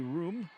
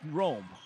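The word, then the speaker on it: Roome: And of course, as we mentioned, the coach, Kylie Room, Rome, excuse me, spelled like room with an extra e on it, but it is Rome set up front.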